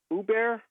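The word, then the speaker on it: Oubre: the warriors listening to uber uber that's how you pronounce its name o u b r e uber you mean kelly ubrey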